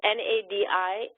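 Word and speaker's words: नाडी: read English versus Sanskrit, this word N-A-D-I is pronounced nadi in this context, nadi pariksha, which is the pulse. Without diacritical marks, when you write things out, if I didn't know that by context, it could also be read as nadi, which means a river.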